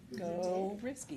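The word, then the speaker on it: Gorzycki: I'm dealing with Lamar Middle School, Garitsky Middle School. Did I say that right? Go risky. Go Risky. It's Summit Elementary. Not the way it's spelled.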